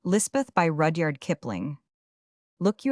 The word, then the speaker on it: Lispeth: The Kotgar chaplain christened her Elizabeth, and Lispeth is the hill or Pahari pronunciation.